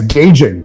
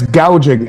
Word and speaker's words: gouging: how to say it she said it last night price gauging it's price gouging and they're not gouging